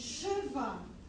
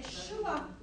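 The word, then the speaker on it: שְׁוָא: É Cheva. É exatamente o que ele representa. Você não pronuncia aquele E.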